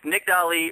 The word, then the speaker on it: Nicdali: I'd like to welcome her to the show Nick Deli how you doing tonight I'm doing good and you pronounced it right I'm so happy yeah me